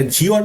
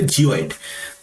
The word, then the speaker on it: geoid: এটা জিওয়েড নয়, ইংরাজি যে শব্দটা সেটা হচ্ছে GEOID উচ্চারণ করলে হবে জিওয়েড।